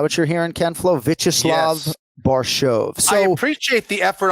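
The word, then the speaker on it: Borshchev: Yeah, it's so the surname is spelled Borchev, but it's pronounced Barshov.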